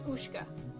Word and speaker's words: Ushka: Very different bands, but uh yeah, in English name is pronounced Oka. Oshka Oshka is so it's Ushka.